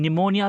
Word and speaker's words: pneumonia: word p also neumonia in pneumonia we do not use the word p p is silent right then you know